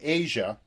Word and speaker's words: Aja: from Black Cow to Asia, the the title track of the album. And this really is it's kind of interesting that Asia is spelled AJA, but this song is